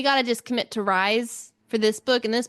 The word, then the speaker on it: Rhys: I just feel like rhy is ry, not re. Like sky. Like sky. Rise. I don't know how people get Reese, but that's how Sarah J. Mass said it's pronounced is Reese.